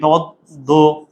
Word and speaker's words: পদ্ম: দ কয়বার হবে? দুইবার। তাহলে প্রথমবার হর্ষণ চিহ্ন পেয়ে যে পদ্ম, পদ্ম।